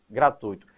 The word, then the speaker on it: gratuito: Gratuito é a construção correta e sem acento. Quando você pronuncia de maneira equivocada gratuito, a tendência é colocar um acento porque aí forma um hiato.